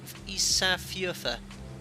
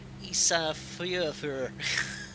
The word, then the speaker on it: Ísafjörður: Ísafjordur. Ísafjörður. The R's have to be pronounced like a Glaswegian. Ísafjörður.